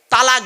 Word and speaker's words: তলাক: কারণে স্বামী তার স্ত্রীকে তালাক দেয় ঠিক না বেঠিক শব্দটা কিন্তু তালাক নয় শব্দটা তালাক বলবেন না কেউ শব্দটা তালাক নয় শব্দটা হলো তলাক কি বললাম জোরে বলুন